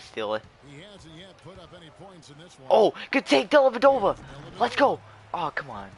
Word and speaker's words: Dellavedova: How do you like freaking a guy with like freaking a four syllable last name score on you? Dellavedova. He has five.